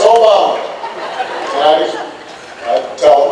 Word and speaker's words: Obama: funny name Barack Obama although people wouldn't say it right and they would call me Alabama or they would call me your mama and I had to they did I just play it's Obama and I I tell